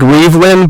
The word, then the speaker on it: Reavlin: my name is Reavlin, so it looks like Reavlin, but it's pronounced Reavlin, so I'm Reavlin, which looks like Reavlin, but then you can find me.